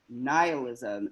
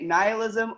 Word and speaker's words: nihilism: And one other thing, in the oath is the word nihilism, and I didn't know exactly how to pronounce that, so I looked it up. And you can say it nihilism or nihilism, it's your pick, but in case I